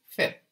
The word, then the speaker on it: fait: The S is silent, of course, and we get fait.